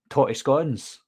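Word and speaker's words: tattie scones: So, well, they're called potato scones in Scotland, but we say totty scones. That's the way we pronounce it, totty scones.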